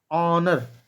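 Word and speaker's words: honour: देखिए यहाँ पे पढ़े हैं आप, ऑनर, एच साइलेंट हो गया तो यहाँ पे एन आएगा।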